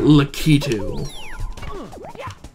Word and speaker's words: Lakitu: and i think he's in the new okay i'll i'll watch that video later but it did show that you pronounce it lakitu which i like like